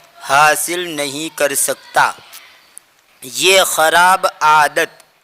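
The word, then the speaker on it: خوار: याद रहे यहां पर यह वाव पढ़ा नहीं जाएगा। जैसे और जबानों के अंदर कुछ हुफ साइलेंट रहते हैं। ऐसे ही उर्दू जबान के अंदर भी कुछ हुफ साइलेंट रहते हैं। उमूमन अलिफ, वाव और या ये तीन हुफ ऐसे हैं जो उमूमन उर्दू के अंदर साइलेंट रहते हैं। तो यहां पर यह वाव उसको पढ़ा नहीं जाएगा। उसको खार पड़ेंगे और इसका माना होता है जलील।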